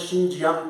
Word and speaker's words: Xinjiang: Spelling starts with X, but we are pronouncing as Xinjiang territory.